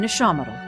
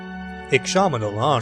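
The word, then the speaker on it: Ixamitl: And a gift-bearer in Ishamadal. Ishamadal, so that's how you pronounce it. Ishamadal.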